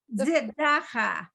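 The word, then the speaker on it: צדקה: Tzedakah. Okay, first of all, the letter is not Z, it's S.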